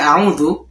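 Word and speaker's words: أعوذ: Pada saat kita membaca auzu di sini ada dua huruf dommah yang sejajar ya. Jadi bibirnya ini enggak dimajukan sekali enggak auzu, tapi dua kali dimajukan.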